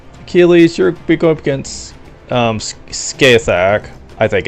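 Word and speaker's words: Scáthach: Achilles, you're going up against Skathak. I think it's supposed to be pronounced Skathak, but Skaith just sounds better and is easier to say anyway.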